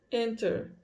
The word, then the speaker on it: enter: Este Tzinho está entre aspas, quer dizer que às vezes você pronuncia, às vezes não. Vamos ver como é que ela vai falar? Enter. Só que você vai ouvir muito enter também, tá?